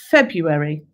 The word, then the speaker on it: February: the hard ones because it's got a hidden letter in it. February. Okay, I'll give you a clue that you can say it, which helps you spell it. Say it how you spell it rather than say it how you say it.